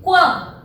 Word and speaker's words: quão: Mas, ó, quando eu pronuncio quão, eu ouço o U.